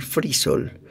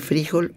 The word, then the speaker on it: frijol: paréntesis para decir que pronunciamos mal frisol se dice frijol o frisol los frijoles